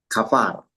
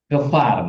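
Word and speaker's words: כפר: Eh, kafar. Kefar. Nah, lagi, Pak. Kefar. Kefar. Kefar. Kefar. Ya, ingat ini pakai ini adalah V ya, Pak, ya. Ini V.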